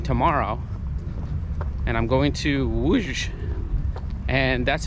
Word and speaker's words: Łódź: I'm going to be leaving tomorrow, and I'm going to Łódź, and that's how they told me to pronounce it. And to us, it looks like L-O-D-Z, something like that, but it's called Łódź in Polish.